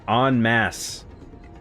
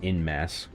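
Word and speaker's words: en masse: Not in mass. Onmass. It's a French term, I believe. Uh, it's spelled mass. Got an E at the end. E N M A S S E actually um I was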